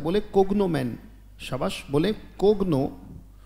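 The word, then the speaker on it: cognomen: भी होता है, बोले कोग्नोमेन, शाबाश, बोले कोग्नो, सही कर लेते हैं बेटा, कोग्नोमेन, बोले शाबाश, उच्चारण ठीक करेंगे, बोले कोग्नोमेन, बोले शाबाश, कोग्नोमेन.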